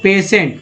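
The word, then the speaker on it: patient: अब बताइए कि यहाँ पर टी भी है, टी से ट हो गया, एन से न हो गया, पी ए से पे हो गया, तो स कहाँ से उच्चारण आ रहा है? तो ये जो टी आई है इसको ही स बोला जा रहा है, जैसे यहाँ पर टी आई को श बोला गया।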